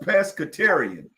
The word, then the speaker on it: pescatarian: Like pest control, but take the control off and put catarian on.